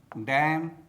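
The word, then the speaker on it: damn: ऑटम ऑटम column column solemn solemn condemn condemn him हिम डैम डैम लिम लिम तो दोस्तों आपको भी साइलेंट लेटर एन से बने शब्दों का इसी प्रकार से प्रोनाउंसिएशन करना चाहिए।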